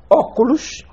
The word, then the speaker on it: óculos: sílaba por exemplo açúcar vocábulos proparoxítonos ou esdrúxulos exemplo óculos com assento na antepenúltima sílaba Exato eu queria só